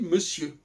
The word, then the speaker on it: monsieur: Je dis monsieur. Ce qui montre bien que le R ici n'a pas à être prononcé.